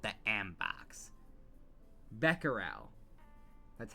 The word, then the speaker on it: Becquerel: Becquerel. That's how you're supposed to pronounce it.